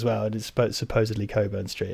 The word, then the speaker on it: Cockburn: there's no quick because like Cockburn ports yeah it's pronounced Coburn actually no it's not